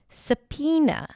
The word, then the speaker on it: subpoena: The next word is sapina. Sapena. The word is spelled with a B sound and then there is an O there somewhere.